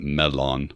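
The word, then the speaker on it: mellon: the actors on pronunciation ian mckellen pronounces it medlon but in our head we're all just saying melon let's be honest so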